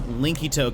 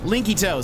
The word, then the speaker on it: Linkito: Linkito. So it's spelled like Link and then ITO.